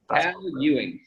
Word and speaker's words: Ewing: name in full you a how hot secure Ewing there we go Ewing from Calgary see